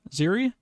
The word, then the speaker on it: Zeri: got announced today yes zeri ziri is how you pronounce it some kind of love